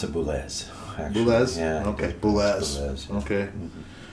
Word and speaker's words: Boulez: And then he continued on to the And he pronounced it Boulez.